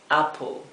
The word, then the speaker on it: apple: sí fíjense lo siguiente cuando la a viene viene eh sucedida Por un una doble consonante como aquí una consonante doble como en este caso la doble p la a siempre toma el sonido a s nunca va a tomar el sonido e este sonido e verdad como acá Abraham no Cuando tenemos una consonante doble a continuación de la a es el sonido corto